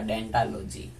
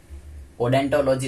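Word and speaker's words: odontology: ओ silent रहता है और नाम होता है इसका डेंटालॉजी। ओडेंटोलॉजी ना पढ़ के डेंटोलॉजी पढ़ते हैं।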